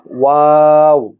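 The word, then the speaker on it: و: এরপরে যে অক্ষরটি রয়েছে এই অক্ষরটি হলো ওয়াও। এই অক্ষরটি ঠিক একইভাবে দুই ঠোঁট হতে উচ্চারণ করতে হবে।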